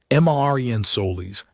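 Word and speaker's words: Marin Solís: Marin Solis, Soliqs, with an accent on the I.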